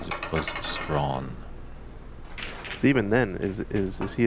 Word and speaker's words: Strachan: Nationals up at Ox a couple of years ago, and it looks like you would pronounce it Strachan. Yeah. Just the way it's spelled, but in fact it is Strawn, and that is from Mr.